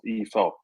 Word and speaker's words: i fart: I fart in a Danish elevator means, actually it's pronounced e-fart, meaning in motion. meaning it's moving, so it's not as funny as it sounds.